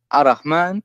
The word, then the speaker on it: Ar-Rahman: You know what I've learned is when you say Ar-Rahman and you say it like with the Ar-Rahman, this is like with the alif, then you say it like long, you know. Right, Ar-Rahman. Actually, Ar-Rahman, even if you write Ar-Rahman in English, how you write it, you have to add alif, right? There's yes. When you pronounce it, why? Because there's an alif.